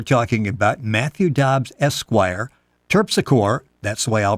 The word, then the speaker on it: Terpsichore: The World War I trilogy we're talking about, Matthew Dobbs Esquire, Terpsichore, that's the way I'll pronounce it, and Goodman's Croft.